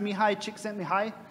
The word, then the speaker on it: Csikszentmihalyi: get this wrong but I think it's pronounced me hi Csikszentmihalyi yeah so this is how